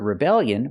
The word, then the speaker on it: rebellion: With the word rebellion, we put the stress on the second syllable.